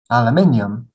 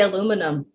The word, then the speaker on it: aluminium: this word david aluminium aluminium oh it's hard to save and aluminium aluminium that's right okay we just say aluminum it's a big it's